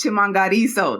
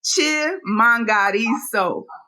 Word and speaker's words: Chimhangariso: a quick uh correction my last name is chimango now oh I'm so sorry Chim one more time yeah can we get that pronunciation one more time it's ch mangaro chimo yes yes I